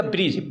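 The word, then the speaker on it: bridge: ठीक ना, डी के, यानी जी से पहले आने वाले अक्षर को हम डी हमेशा साइलेंट ही पढ़ेंगे। जैसे आपका ब्रिज, BRID और जी, एक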